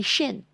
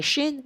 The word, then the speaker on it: Shin: Shan what is Shan Shan is not a letter it's supposed to be Shin if you're going according to the Hebrew language you pronounce it the proper way and you spell it the correct way either to as well so there supposed to be Shin you give it a sh sound as in shut and